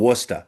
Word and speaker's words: Worcester: We have a city called Worcester, but it's not spelled anywhere near there.